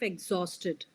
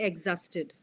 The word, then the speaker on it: exhausted: Next on the pronunciation of exhausted. We will not say exhausted. Exhausted. The O sound should Exhaust. be clearly audible.